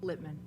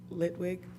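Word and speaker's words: Litwin: please help me, but it's Eric Littman. Litwig. Right, okay.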